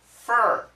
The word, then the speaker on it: for: Most Americans do not say for, we say fur, like her.